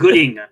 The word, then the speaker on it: Goodyng: Well, he doesn't like your pronunciation. It's Goodyng.